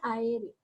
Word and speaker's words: aéreo: En la palabra aéreo, yo digo A-E-D-O. Aquí, por ejemplo, se aplica lo que le había dicho anteriormente. Dos vocales fuertes, sí o sí, se separan en sílabas diferentes. Entonces, ¿dónde yo elevo la voz? Aquí, en la E.